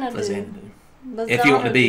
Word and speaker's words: Faxanadu: Really what I'm getting at is the X should be pronounced like a Z, like Xanadu. Faxanadu.